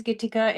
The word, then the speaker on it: Gita: Hello, my name is Gita. It rhymes with Whitaker.